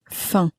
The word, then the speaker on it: faim: very clearly pronounced, but the M on the end of faim was not pronounced, at least not clearly.